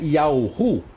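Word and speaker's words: יה: a essência de Deus, a pronúncia para o Eterno era Yah.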